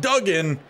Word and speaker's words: Dugan: So apparently it's a good thing that I now know Dugan is actually pronounced Duggan, because he might be heading out our next possession.